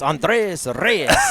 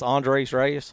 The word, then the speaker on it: Andres Reyes: Well, Boo Boo was telling me how to put a little Latin flair on it. It's Andres Reyes. Hey, that's pretty good, yeah, Pete. So he's telling me don't just say it like a Anglo, which I am, just Andres Reyes.